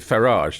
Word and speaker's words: Farage: how the actual well I think he he pronounces it farage doesn't he farage h farage so there's a uplift on the first syllable farage but farage as